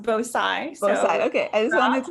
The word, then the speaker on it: Bhosai: are pretty close uh my last name is pronounced bosai okay i just wanted